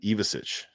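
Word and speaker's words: Ivišić: And Tommy Isevich looks like the guy that he was earlier this season. So I don't know. How did you pronounce that? Tommy Ivisic.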